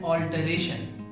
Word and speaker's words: alter: इसी तरह किसी चीज को दूसरी चीज में अगर बदलना है तो इस प्रक्रिया को कहते हैं ऑल्टरेशन। पहले शब्द में हम ऑल पर जोर लगाते हैं, ऑल्टर, ऑल्टर।